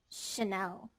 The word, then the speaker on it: Chanel: Chin, chin, shine, chime, wash, watch, Chanel, channel, chic, cheek, Note that chic and Chanel are words borrowed from French, so the spelling with CH is actually pronounced sh.